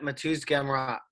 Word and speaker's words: Mateusz Gamrot: Yep, Mateusz Gamrot.